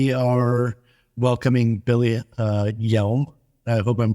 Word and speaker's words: Yelm: It's like Y-E-L-M, like Yelm. Perfect. If we hadn't covered that the other day, I would have butchered it for sure.